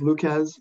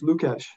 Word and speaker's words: Lucas: In the United States, it's Lucas. And as you know, it's other places, it's Lukash.